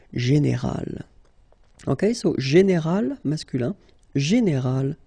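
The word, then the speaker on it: générale: Okay, but then phonetically it's quite interesting because you don't make any difference. You will get so général at the masculine form, and it will be exactly the same thing at the feminine form, général.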